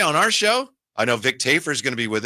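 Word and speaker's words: Vic Tafur: Today on our show, I know Vic Tafer is going to be with us. Vic Tafer. Sure. That's how you pronounce it.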